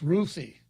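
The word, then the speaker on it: Ruthy: I would pronounce it Ruthie because my mom's name was Ruth. And her friends called her Ruthie. But I suppose in this part of the world, it would be Ruthie, right?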